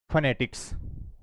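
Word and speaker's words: phonetics: तो इसको बोला जाता है फनेटिक्स, नॉट फोनेटिक्स। ध्यान देना आपको, इसको फोनेटिक्स नहीं पढ़ा जाता है, जबकि अपन क्या कर लेते हैं, इसको फोनेटिक्स पढ़ लेते हैं।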